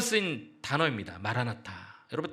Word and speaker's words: 마라나타: 이 마라나다라는 말은 아람어의 마라나타의 그 음력을 그대로 발음한 헬라어예요. 성경에 딱 한 번 쓰인 단어입니다. 마라나타.